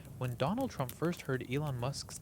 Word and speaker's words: Elon Musk: They say that when Donald Trump first heard Elon Musk's name, he mispronounced it. Who's this Alan Mask guy everyone's raving about?